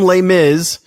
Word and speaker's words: Les Mis: I have season tickets to the Broadway season, and just got back from Les Mis, which is how you say it.